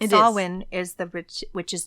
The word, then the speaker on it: Samhain: know it's it's spelled Sam Hayne like the Danzig band if you are from the 90s but it is actually pronounced in Gaelic as sawin yes so to me